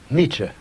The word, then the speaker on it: Nietzsche: talking about so we can get the correct pronunciation from you foolish Nietzsche who was he Nietzsche was one of the